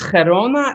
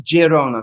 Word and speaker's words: Girona: israel is good um in spanish it's gerona and in but the local language is catalonian and that's girona so your first one